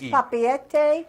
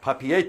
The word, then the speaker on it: Papeete: Now, up there on the top to your left, there's a town there that's spelled P-A-P-E-E-T. It's Papeete. Papeete.